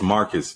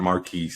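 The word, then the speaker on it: Marques: don't remember most of that stuff dude it's Marcus not Marquis I keep telling you that it's pronounced Marquis it's Marcus he pronounces this Marcus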